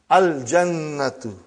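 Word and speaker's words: الْجَنَّةُ: Brother, you will pronounce lam. Al-Jannatu.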